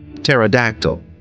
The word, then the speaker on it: pterodactyl: here p is silent pterodactyl here p is silent Island here s is